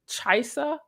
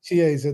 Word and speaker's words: Chiesa: include the annual Gordon Chisa coaches. Did I pronounce that correctly? Chiesa, that was Chiesa, thank you.